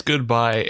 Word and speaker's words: GoodBi: So I would imagine it's pronounced GoodBi. Is that fair to say? I would say it's GoodBi, and I've confirmed this with myself because the